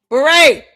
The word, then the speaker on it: beret: You can't go to court and mispronounce simple words with 2 syllables like beret.